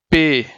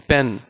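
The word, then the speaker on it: پ: Then we have the third word Pay as as the word Pahad in Urdu, which means mountain, as P in pen, which means pen in English, but the initial sound is just like similar in pronunciation.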